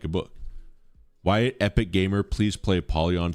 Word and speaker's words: Wyatt: White. White. Maybe if my name was White, but it's two syllables. Wyatt, please play a poly on.